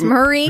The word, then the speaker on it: Marie: It's Marie, right? Or is it Maria? I thought it was Maria. Is it No, it's Marie Kondo.